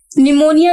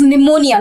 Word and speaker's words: pneumonia: Pneumonia is basically a disease in which a person suffers from cold. It is pneumonia, not pneumonia. P is silent over here.